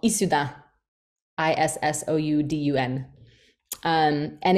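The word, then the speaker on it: Issoudun: tiny town which okay I'm gonna try to pronounce it right called isuda i-s-s-o-u-d-u-n um and it's it's a tiny tiny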